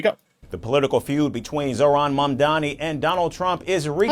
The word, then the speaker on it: Zohran Mamdani: The political feud between Zoron Mandani and Donald Trump is re Okay, so I did say it right. Zoron Mani.